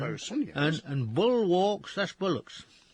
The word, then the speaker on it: boatswain: Boatswain, that's bosun. bosun, yes.